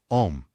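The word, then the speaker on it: homme: a piece of bark he learned from darno that it was pronounced om and in the same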